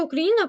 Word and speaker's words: Україна: незалежній і вільній Україні назва Україна походить від слова країна бо давня ї за традицією бере на себе наголос і ламає ідею росіян про Україну імперію тобто яку вони вочевидь виводили тільки через неправильне наголошення слова і непопустливість своїми